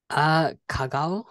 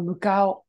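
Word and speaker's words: 向こう: Kagao? Good guess. It's actually mu or mukao.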